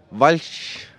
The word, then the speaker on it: Walch: And I'm joined by Richard, and I'm going to say it correctly now, Walch from Close.